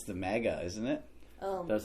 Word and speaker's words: MAGA: Oh it's my a MAGA. God. It's a MAGA truck, not mega.